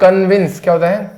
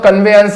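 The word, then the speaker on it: convince: बाद इधर ही आएगी तो इसका उच्चारण क्या होता है कन्विंसिंग विंस ये होता है कन्वेंस कन्वेंस कन्वेंस कन्वेंस और ज्यादा बोलो तो कन्वे अंस बोल देना कन्वे अंश कन्वे अंस ये तो आने जाने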